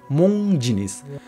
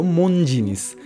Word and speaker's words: Monginis: নামটা রাখলেন সেই পুরনো ইতালীয় পদবীটাই মোং জিনিস। তবে উচ্চারণে সেটা বাংলা কালচারে মিশে হয়ে গেল মন জিনিস।